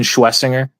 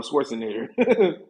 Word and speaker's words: Schwesinger: Uh Carson Schwesinger. Schwezinger. Okay. I keep calling him Schwarzinger.